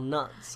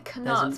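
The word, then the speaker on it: Knut: know yeah one's called nut I don't know what the other why did you say canut why did you pronounce the k a k do you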